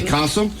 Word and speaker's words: CASA: in this morning they're from Casa did I pronounce it right yes you did okay Casa and U Rachel why don't you tell folks